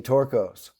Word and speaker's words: Torkos: I got to be, she picked Torkos.